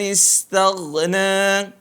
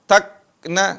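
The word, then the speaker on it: استغنى: Cara mengucap huruf gha perhatikan. Seringkali teman-teman membacanya seperti huruf kaf. Amma man istaghna, takna seperti kaf. Bukan ka, tapi gha, mirip ke huruf G, tagna, ya.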